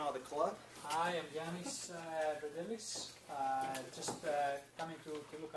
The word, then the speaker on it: Yanis: Yanis. Yeah. Yes. Y-A-N-Z. It's spelled slightly funny because I'm Greek, so the alphabet doesn't really translate. But it's pronounced like a Y-A-N-I-S.